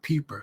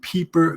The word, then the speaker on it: Wpeeper: I'm going to assume the W is silent, so I'm going to call it Peeper.